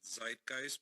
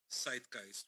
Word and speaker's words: Zeitgeist: call it Zeitgeist which many people in English-speaking countries pronounce it Zeitgeist but it's actually Zeitgeist which means the ghost of the moment and in Arabic